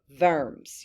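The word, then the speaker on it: Worms: as the deit of verms you pronounce the w with a v so for the what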